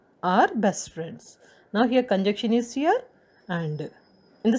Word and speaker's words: conjunction: Now, let's go for the seventh one, conjunction. Conjunction, N is here silent, second N is silent. We don't say, we don't pronounce it like conjunction, okay, conjunction.